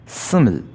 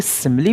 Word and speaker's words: simile: आज हमारा पहला फिगर ऑफ स्पीच है सिमिल। कुछ लोग इसे सिमिली पढ़ते हैं, लेकिन इसका सही प्रोनाउंसिएशन है सिमिल।